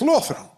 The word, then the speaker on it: Lothian: That's how they probably pronounce it. Lothian. Yeah. It's Lothian. Secret is to not move your mouth at all when you say it, and then you're like, "Oh, that's the Scottish way to do it." And then choke a little bit.